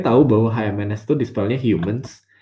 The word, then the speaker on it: HMNS: Oh itu sebutnya Humans ya. Oh gue pikir selama ini kayak HMNS atau apa gitu.